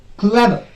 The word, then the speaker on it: clever: Clever, clever, clever. Clever, first syllable. Ver, second syllable.